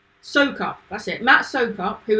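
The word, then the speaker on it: Soucoup: Trying to hear him say it because I always get his surname wrong. Sokop, that's it.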